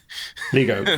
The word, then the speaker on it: LiGo: Lego.